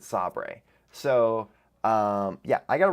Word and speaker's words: Sabre: was called saber s-a-b-r-e now I kept pronouncing it Sabre which also after I realized that made me think of The Office episode where um they're bought out by saber and they pronounce it sobre so um yeah I